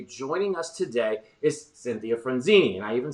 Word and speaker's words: Frunzi: You added an extra couple vowels. It's Frunzi. Frunzi.